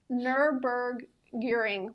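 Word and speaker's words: Nürburgring: performance model so I didn't know how to pronounce this I had to get fonetic spelling um nerber gearing lap it's apparently the most famous racetrack in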